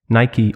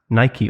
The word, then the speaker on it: Nike: Nike or Adidas? Adidas. What? You don't say Adidas, do you? Adidas or Adidas? It's Adidas, but I prefer Nike over Adidas. Nike or Nike?